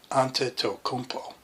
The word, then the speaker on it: Antetokounmpo: whatever yanasanta de cumpo I think the key is don't pronounce the end just leave out the end antetokounmpo I like to have